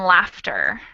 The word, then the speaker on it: laughter: uh-huh so we have first off the spelling of those words is totally crazy because we have a silent gh in both of them but on top of that they're spelled the same and pronounced differently once again so we have doctor